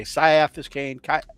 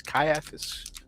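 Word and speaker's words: Ciaphas: I've heard people say Sciaphis Kaiapiscane. Um, but in the uh audio books, they say it with a hard C as Kaiis, which is why I'm pronouncing it that way.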